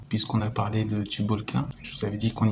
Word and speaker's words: Tubalcain: a parlé de le tube all qu'un je vous avais dit qu'on y reviendrai ça s'écrit comme ça mais en anglais ça se prononce tout ball came to book est ce